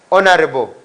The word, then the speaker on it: honorable: Tico and reason being letter H is kept silent we don't pronounce letter H there are four what